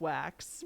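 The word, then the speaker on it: Waks: name is Ken wax it's spelled w-a-k-s though but it's pronounced wax but yeah I kept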